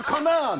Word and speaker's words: Conan: Be Conan or Conan? No, it could not be. It's Conan. The Conan show.